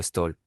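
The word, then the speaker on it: Stoll: Siempre me había parecido divertido que el dios de los ladrones hubiera tenido hijos con el apellido Stol. Se pronuncia igual que Stoul, retérito del verbo hostil, robar.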